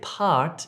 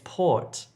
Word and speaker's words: port: Don't say part if you're trying to say port.